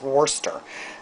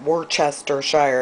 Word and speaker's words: Worcestershire: I think it's Worcester. But Worcestershire, if you were going to actually pronounce it out.